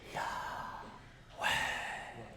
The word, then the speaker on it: Yahweh: The actual pronunciation of God's name is the same as when you breathe in, so it's Yahweh.